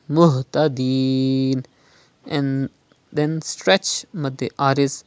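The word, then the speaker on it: مهتدين: Now it is Ha. You have to pronounce from the bottom part of your throat. Do not read Muhtadeen, but it is Muhtadeen.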